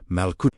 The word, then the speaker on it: Malkuta: Before Jesus speaks about seeking first Malkuta, pronounced Malkuta, meaning the divine reign, the living presence of God within, he spends an entire section talking about fear, anxiety, and trust.